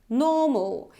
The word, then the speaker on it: normal: I'm saying better better so here this R is not pronounced normal normal so it's not normal it's normal okay the next word how